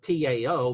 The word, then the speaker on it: Tao: Now, in ancient, 19th century, early 20th century English interpretations of Chinese, it was spelled T-A-O, but it was always pronounced as in D-A-O.